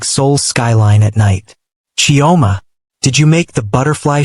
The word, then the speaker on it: Chioma: "Chioma," Yuna had said, testing out the maid's name for the first time, but pronouncing it wrong, Toma instead of Chioma, as if the extra syllable made it foreign and therefore lesser.